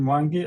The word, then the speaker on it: Mwangi: My name is Mangi.